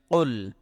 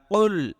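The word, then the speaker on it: قل: ইয়া আইয়ুহাল Kafirun calf লাম পেশ কুল এটা কিন্তু বড় কাফ এটা কুল একটু চাপ দিয়ে কলকলার মত ধাক্কা দিয়ে উচ্চারণ করতে হয় ঠিক আছে এটা কুল না মানে মধ্যখান পেঁচানো কাফ দিয়ে না এটা মাথায় রাখবেন না হয় অর্থ পরিবর্তন হয়ে যাবে প্রিয় দর্শক ইয়া এই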